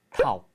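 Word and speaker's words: тав: 넥, 허열, 고롭, 두룹, 타옵. 네, 1부터 5까지 발음을 닉, 허열, 고롭, 두룹, 타옵 이렇게 얘기를 합니다.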